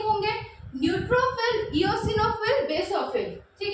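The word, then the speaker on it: eosinophils: Again पूछा हुआ question है, इओसिनोफिल is also known as एसिडोफिल्स, ठीक है। कुछ लोग इसको एसिडोफाइल्स भी बोलते हैं या इओसिनोफाइल्स भी बोलते हैं, तो वो आपके प्रोनाउंसिएशन पे वेरी करता है।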